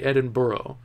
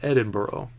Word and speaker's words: Edinburgh: knowledge Edinburgh Edinburgh Edinburgh I feel more comfortable saying Edinburgh that's the way it looks like it's spelled to me so I might go Edinboro if I can Jack you